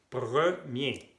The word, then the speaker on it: premier: Y no tienen que decir premier, no, porque la E y la R hacen E. Premier.